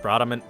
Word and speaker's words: Bradamante: Technically pronounced Bradamante, but We will be covering the points we see on screen here.